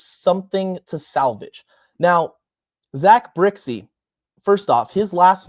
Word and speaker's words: Brzykcy: So, it is pronounced Brixie.